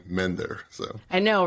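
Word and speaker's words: MNDYRR: can get this right m-n-d-y-r-r yep it's an acronym and uh but pronounce it mender it's much easier and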